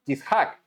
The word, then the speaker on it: Yitzhak: ¿Cómo se pronuncia Isaac en hebreo? Yishak.